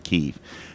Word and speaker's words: Kyiv: It's really easy to say Kiev, but it's pronounced Kyiv.